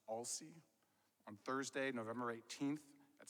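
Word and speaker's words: Aulcie: los angeles premiere of a-u-l-c-i-e i think it's pronounced all sea on thursday november 18th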